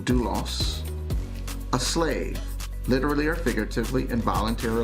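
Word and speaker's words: δοῦλος: the actual strong's definition strong number 1401 is pronounced dulos a slave literally or figuratively involuntarily or voluntarily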